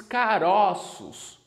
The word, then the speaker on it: caroços: aqui é caroço beija no singular nós pronunciamos como se fosse uma acento circunflexo caroço agora quando a gente passa essa palavra para o plural nós pronunciamos caroços com acento agudo certo caroço circunflexo singular caroços agudo no plural beleza mesmo exemplo de